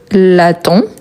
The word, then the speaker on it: l'attends: Donc, je l'attends. Je l'attends. N'oublie pas le DS à la fin, même si on ne le prononce pas.